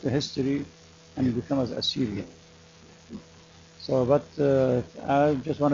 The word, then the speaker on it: Assyrian: bit imagine because yeah before you corrected me I was saying assurian the reason they don't